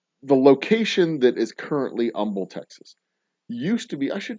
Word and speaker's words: Humble: The H is silent in the city of Humble's name because the city's founder. Okay, so the location that is currently Humble, Texas, used to be.